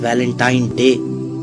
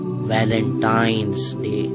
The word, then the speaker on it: Valentine's Day: है अब आप इस वैलेंटाइन डे के नाम पर गौर करें इसे जो आम कहा जाता है यह वैलेंटाइन डे है लेकिन हकीकत में जो इसका प्रोनाउंस एशन है वह है वैलेंटाइंस डे य एक वैलेंटाइन वाला